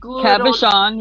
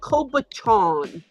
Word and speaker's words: cabochon: saying them right and cabochon you said it right yeah he's calling them kobatron like um like cab like taxi cab cab uh Sean yeah and I could